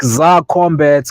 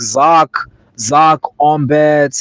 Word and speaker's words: Zar-Kombat: people was like, and people were having a hard time pronouncing it. They were calling me like Zark Ombat, and I put the dash in there so people could know to separate the Zar from the Combat.